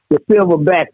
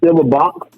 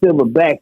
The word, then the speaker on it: Silver Bax: does the Silver Bax, because the way it's spelled, people will take it as Silver Box, but so trying to get that understood to them that it's Silver Bax is just a different spelling of the Silverback gorilla.